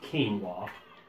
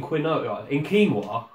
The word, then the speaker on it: quinoa: But there's only one letter in quinoa that you pronounce the way it's spelled.